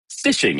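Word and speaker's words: phishing: So, the first category of scams we're going to talk about is fishing. Uh fishing spelled with a ph because that's cool. Um but it is fishing.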